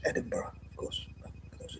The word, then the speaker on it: Edinburgh: apparently an area in Edinburg or Edinburgh Edinburg so I call it um that has five or six silent letters so it's pronounced Edinburgh of course for those